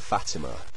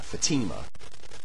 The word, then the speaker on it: Fatima: Uh, I love the way you emphasized your pronunciation of Fatima. Uh, Fatima to show that I had stressed it wrong. Um, but Fatima is the way I've heard other people pronouncing it and it's possible you're correct and it's Fatima. But anyway, I just wanted